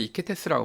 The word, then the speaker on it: 히케테스: 사람들이 이제 하는 수 없이 그 시켈리아의 레온티니를 통치하는 히케테스, 이제 프랑스어 발음으로 이제 이케테스라고 발음이 되는데 여기에 이 사람한테 도움을 청하죠.